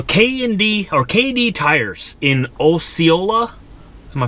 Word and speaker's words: Osceola: So this is Osceola? Osceola, Iowa? Is that how you pronounce it?